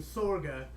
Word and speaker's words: Sorge: labor scene FA Sorge although if he Scandinavian and he might have been he might pronounce his name saga but I'll go with an Americanized pronunciation of swords wrote in 1872 Karl